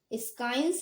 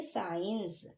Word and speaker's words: science: Okay, इसे हम लोग स्काइंस नहीं पढ़ेंगे, अब हम इसे पढ़ेंगे साइंस।